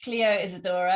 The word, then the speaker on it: Clio Isadora: chat with cleo so i'm here with cleo isadora am i pronouncing your name correctly yeah okay that's good um